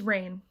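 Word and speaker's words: Reign: at number eight is rain okay and i promise the show isn't on this list simply because um it's pronounced like my name um this rain is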